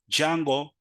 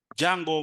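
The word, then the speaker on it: Django: should know is that jungle the D is silent jungle makes it easier to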